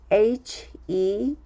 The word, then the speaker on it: heel: 치유하다 이런 뜻이 되죠 그래서 이 부분에서는 힐을 길게 발음 을 해주면 좋습니다 acer 그리고 bear 알브